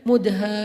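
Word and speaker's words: مدهامتان: Bacanya juga harus panjang karena dia rimbun banget. Sehingga bacanya Mudhammatan.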